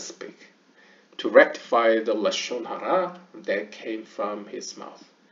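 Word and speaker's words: לשון הרע: 여기서 이제 Lashon을 Lashon이라고 표현한 거 이제 동유럽권 약간 하시디즘이나 약간 그쪽에서 발음할 때 약간 카메츠를 이렇게 발음해서 그렇고요. 하여튼 현대 히브리어로 이야기를 하면 Lashon Hara, Slander and Cursing.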